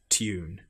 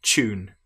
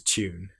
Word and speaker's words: tune: In fact, some of these are different in American English, for example, where they will say tune, but in British English, we say tune. Some will even, if they're getting lazy, pronounce this as the ch sound, tune. But correct is tune.